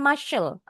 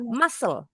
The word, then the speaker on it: muscle: This exercises build musal and build muscle bunyinya bukan musel s biasa muscle.